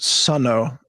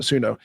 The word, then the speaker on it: Suno: me to Suno, which I understand is actually pronounced Suno by the the founder, but whatever, we all call it Suno.